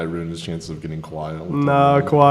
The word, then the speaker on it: Kawhi: I think the Warriors put too much of their defensive focus on Kawhi. Because when you really... Kawhi. I literally, everybody says I pronounce his name wrong.